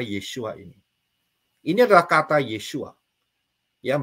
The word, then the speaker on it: Yeshua: yang menjadi kata yesua ini Ini adalah kata yesua yang bacanya dari kanan y w Ayin ya kalau